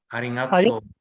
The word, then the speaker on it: ありがとう: The G, the ga dakuon has a nasal sound. So it's like arigato. You're correct. Arigato. That's the correct pronunciation. The ga has nasal sound.